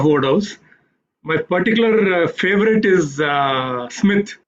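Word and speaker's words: Psmith: Smith, but it is Smith spelled with a P, like in thesis and psychosis.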